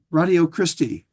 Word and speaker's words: Ratio Christi: It's spelled like the word ratio, ratio of 5 to 3, like that. Ratio Christi. It's the word Christ plus I at the end.